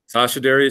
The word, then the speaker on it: Sascha Deri: It's very nice to meet you, and you're Sascha Deri, is that how you say it? Sascha Deri, CEO of Blueshift Aerospace.